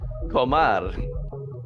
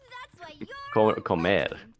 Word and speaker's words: comer: Comar. Wait, how do you say eat in Spanish, chat? Comar? I am currently live on Twitch. Comer.